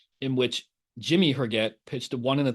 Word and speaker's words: Herget: How do you pronounce it? Jimmy Herget. Yeah, it's Herget.